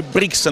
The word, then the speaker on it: Brixen: Oggi è il giorno di Feoni Brixen, oppure Bressano, se preferite la pronuncia italiana, una gara molto importante per la squadra di coach Patrizio Pacifico.